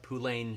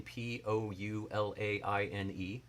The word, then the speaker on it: poulaine: And they attributed it mostly to what they call, I believe it's pronounced Poulain shoe. Poulain, Poulaine.